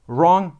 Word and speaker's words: wrong: Silent W like right, no, wrong, snow. Look at that. We don't pronounce W in each single one of these words.